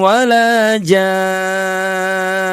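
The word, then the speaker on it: ولا جان: Lam yatmitunna insun qoblahum wala jan. tuh ya. Tidak boleh tergesa-gesa, tidak boleh terlalu cepat. Tahan suara kita enam harakat untuk memanjangkan mad dan tahan di ghunahnya selama dua harakat.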